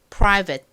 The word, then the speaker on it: private: 처음 철자를 보면 prate 뭐 prate 뭐 이런 식으로 읽으실 확률이 높습니다 저도 만약이 단어를 알고 있지 않았다면 딱 처음이 단어를 보고 프리베이트 뭐 이렇게 읽었을 수도 있을 것 같아요 자 여러분이 단어 private이라고 발음 된다는 거 잘 기억해 주세요 자 발음 연습 같이